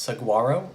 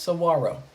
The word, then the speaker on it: saguaro: It is not pronounced saguaro. It is pronounced saguaro.